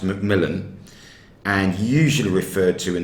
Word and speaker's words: McMillian: that's the attitude um mcmillian his name spelt mcmillian but it's always pronounced macmillan and usually referred to